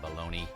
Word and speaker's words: Bologna: But in Italy, that city is pronounced Bologna.